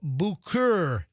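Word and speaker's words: Bucur: pried the door open, they discovered 40-year-old Benjamin Bukur. B-U-C-U-R. How do you pronounce that? Bukur.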